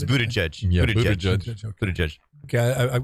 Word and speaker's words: Buttigieg: It's Buttigieg. Yeah, Buttigieg. Buttigieg. Okay, I've got to figure that out. I talked to a radio host in that market who told me that Pete Buttigieg, when he interviewed him for the first time,